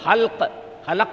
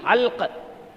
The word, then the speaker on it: حلق: جب یہ حلق میں آ کر پھنس جاتی، حلق ہے وہ، حلق نہیں، حلق.